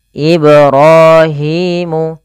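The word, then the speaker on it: إبراهيم: pada lafal kata Ibrahim karena pada lafal ba tersebut ada bacaan Qalqalah yaitu memantul ibrahimu ibrahimu panjang ro dan Hi harus sama kedua-duanya hukum tajwidnya Mad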